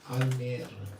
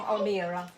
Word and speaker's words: Almere: You have made an embassy of the spiritual world in Almere. yeah, Did I say it right? Almere. Almere. And it's beautiful.